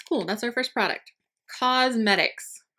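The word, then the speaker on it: Cosmedix: Cosmetics, but it's spelled C-O-S-M-E-D-I-X.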